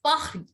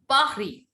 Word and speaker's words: Paris: Paris is not called Paris. It is called Paris. Paris. Paris. Yes. Ma'am, Paris. Yes, Paris. Because I told you S is silent. All the consonants will be silent.